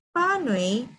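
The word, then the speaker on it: pānui: Panui means read.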